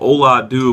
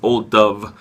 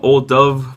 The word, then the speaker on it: Ola Dubh: name it looks like Ola do but apparently it's old Dove like the B and the H make a v sound so I want to get the pronunciation properly um old Dove by harveston uh Brewery